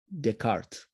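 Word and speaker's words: Descartes: Deart. The S is silent.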